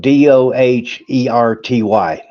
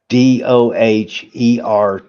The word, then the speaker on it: Doherty: And his last name is spelled Doherty. DOGH. Doherty. DOHERTY.